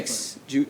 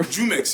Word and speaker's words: Jumex: That guy's an industry Jumix. Am I saying it? Jumex, yeah. Yeah, Jumix. That's how you say it. Jumex.